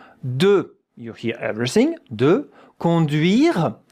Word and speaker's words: conduire: De, conduire, you don't hear the E at the end.